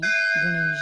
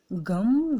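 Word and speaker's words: गं: ताकि आपकी सभी मनोकामनाएं गणेश जी शीघ्र आते शीघ्र पूर्ण ज़रूर करें। तो मंत्र है ओम गम गणपतये नमः। गम जो शब्द है उसे लोग गण भी बोल देते हैं, जो कि गलत है।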